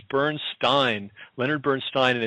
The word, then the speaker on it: Bernstein: pronounce his last name, Bernstein. No, it's Bernstein.